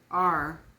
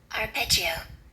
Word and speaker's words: arpeggio: The word is spelled ARPEGGIO, and it is a noun. The note of a chord played in succession, either ascending or descending. And this is how it is pronounced. Arpeggio. Arpeggio.